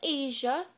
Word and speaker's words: Aja: All right, well, I am Asia. Like the continent, but you spell it AJA.